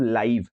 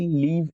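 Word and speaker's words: live: है, अभी आप इन दोनों को पढ़िए और प्रोनाउंस करने की कोशिश कीजिए। इसको आप क्या बोलेंगे? YouTube लाइव। इसको आप क्या बोलेंगे? आई लिव in Delhi.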